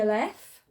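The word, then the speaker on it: א: Okay, so we've got the silent letters, ayin and the aleph, which are both silent.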